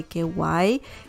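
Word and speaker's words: guay: to someone from spain you can say ky it sounds sounds similar to kawaii yeah kinda right like the like the japanese yeah word kawaii but in spain that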